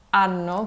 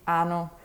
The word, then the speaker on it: anno: le doppie, e quindi c'è la classica parola anno che significa year. E parlavo l'italiano da un anno prima di sapere che se tu pronunciavi male questa parola dicevi ano, che significa anus.